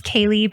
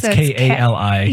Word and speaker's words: Kali: Dayton, I think her name is Kaylee, but I don't want to say it wrong. It's Kali. Yes.